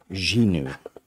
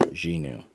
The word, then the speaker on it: Xinu: kind of cool um this is from a house called ginu and I think that's how it's pronounced xinu it's x i n u and this one is